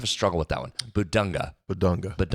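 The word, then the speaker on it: Bidunga: You're going to have to do that with Bedinka, too. Bedinka. Am I saying Keep saying his name wrong. I have a struggle with that one. Bedunga.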